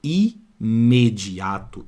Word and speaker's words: imediato: inteligente repara agora embaixo não falo imediato esse M aqui ó ele não tá analisando aí que vem antes não ele faz parte da próxima sílaba do me ó imediato então aqui ó não tem dígrafo vocálico não porque o m tem o seu próprio som então aqui ó vou